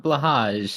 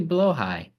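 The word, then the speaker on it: Blåhaj: share with you a different pronunciation that people always get wrong. The IKEA shark. Actually, not blahage as everyone calls it. It's actually blowhigh, Below high.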